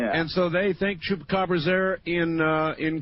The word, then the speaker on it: chupacabra: That's the Chupaca Cabra. Chupacabra. It is my mission in life to teach people how to pronounce that. So let's do it. Say Chupa. Chupacabra. Cabra. Now say it all at once.